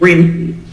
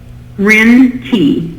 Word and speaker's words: Rin: If you're like me, if you're wondering how to pronounce her first name, it's Rin. Say that one more time. I'm sorry. Rin T.